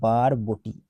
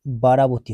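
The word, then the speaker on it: Barabati: গেছে বানানটা এটা হচ্ছে বারবটি ঠিক আছে বারবাটি আর কি বারবাটি এটা বারবাটি বারাবতী হয়ে গেছে এখানে বারাবতি না বারবাটি বারবাটি স্টেডিয়াম কোথায় আছে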